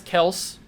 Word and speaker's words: Kelce: That is no shock, absolutely no shock that Travis Kelce is a 99, or Travis Kels, however you want to pronounce his name.